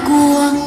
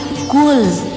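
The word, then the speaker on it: قُل: Itu bukan kul, tapi kul. Lebih ditekan di sininya, dibacanya.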